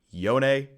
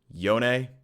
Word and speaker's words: Yone: It is pronounced Yone. Say it with me. Yone.